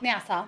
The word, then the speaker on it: Nassau: And then, how do you pronounce it? Is it Nassau? Nassau.